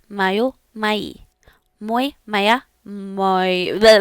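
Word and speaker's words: моё: If you have a neutral noun, it is mayo. Mayo. And if you have something in plural, regardless of the initial gender of that noun, you are going to say mai. Mai. Muy, maya, mayo, mai.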